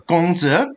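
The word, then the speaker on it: 孔子: Basically, where Confucianism, or Ru, the ways of Confucius, or Gongzi, according to the proper Chinese pronunciation, was the ideology kind of went up and down.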